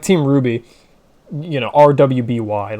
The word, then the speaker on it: RWBY: For like Team Ruby, you know, RWBY. Like, that's not how Ruby is spelled, but, you know, that's just like... that's just how we say it, you know?